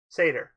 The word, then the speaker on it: Satyr: Satyr. So he looked human? Pronounced Satyr. It's pronounced Satyr. Satyr.